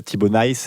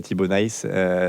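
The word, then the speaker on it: Thibau Nys: On m'a dit c'est pas nice comme en anglais. Nice. On va essayer de prononcer à à la néerlandaise mais en tout cas voilà à la flamande mais Tibo Nice.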